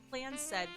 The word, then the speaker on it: Clanced: Oh, okay, the Clanced, pronounced Clanced Trust.